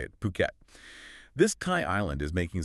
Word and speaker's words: Phuket: And just so we're all on the same page, it's pronounced Phuket. Yeah, definitely not Phuket. That's how locals say it, Phuket.